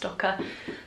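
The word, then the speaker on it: Stokke: It's a stocky or stoke, I call it stoke, I think it's pronounced stocker cot, and we used it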